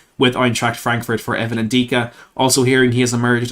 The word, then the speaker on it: Ndicka: it is evan and dicka or evan and dica as i've learned it's pronounced this is a very interesting one for